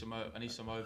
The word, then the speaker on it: Anisimova: Well, what Serena was saying, because she played another up-and-coming hopeful in Auckland, which is, I can't pronounce the name right. Anisimova, her name is? Anisimova.